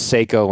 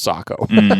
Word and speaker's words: Sako: a hard time for saying woof he says Seiko and it's pronounced Sako yeah which I already knew that but people